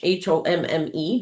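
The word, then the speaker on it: Homme: or um in French, H O M E, but he was not of French descent, but he had a French last name, but he pronounced it home.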